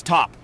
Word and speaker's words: Top: what are your names my name's top the last p is silent all righty then what